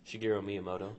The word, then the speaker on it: Shigeru Miyamoto: Does anybody know how to pronounce his name? Shigeru Miyamoto.